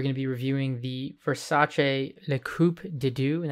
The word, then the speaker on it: Versace: designer gianni versace uh versace uh that's actually how the brown names pronounce i believe and um with that